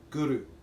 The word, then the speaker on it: guru: thing we ask is when you pronounce guru or when you're chanting it to use the tip of your tongue by the roof of your mouth back of your teeth so it sounds like this gurus you roll the arabian